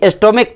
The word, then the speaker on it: stomach: जैसे एस्टोमिक, STOMACH, देखिए यहाँ पे अंत में CH है लेकिन एस्टोमिक नहीं, एस्टोमिक पढ़ेंगे क्योंकि CH का उच्चारण यहाँ पे क आ रहा है।